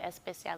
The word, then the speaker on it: Espesyal: So Espesyal is the Haitian Creole spelling of the word special, but you pronounce it Espesyal like in Spanish.